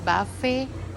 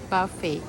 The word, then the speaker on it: buffet: Thai people call buffet, but American call buffet, and the right pronunciation is buffet.